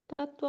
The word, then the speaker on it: तत्व: शुद्ध और अशुद्ध का तत्व और तव हा उ बिल्कुल सही बहुत ही अच्छा ठीक एक में आधा त का उच्चारण है एक में पूरा त दो त है ठीक है तो देखिए